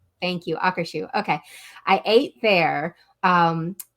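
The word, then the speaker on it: Akershus: say this correctly for me please do it hawk or shoe thank you akashu okay I ate there um for the first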